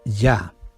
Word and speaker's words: Yah: allá desde ahora para siempre aleluya la palabra ya correctamente pronunciada del transcrito ya j h es una